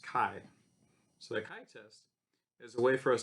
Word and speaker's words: chi: And it looks like chi-test, but it's called the chi here. It's pronounced chi.